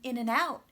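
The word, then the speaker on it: In-N-Out: and an end and like the name of the restaurant maybe in an in and out in and then in and out and all you hear is in in this whole word became smaller and became a schwa sound then try for me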